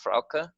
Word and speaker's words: Frauke: Am I saying it right, Frauke? Is that right? Yes.